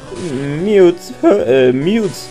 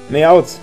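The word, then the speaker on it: Meowth: Mute, Mute. Spricht man es Mute aus? Hört sich an wie Mewtwo oder Mew. Meowt. Meowt spricht man so aus.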